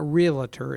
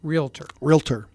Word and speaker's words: realtor: It's not realtor, it's realtor.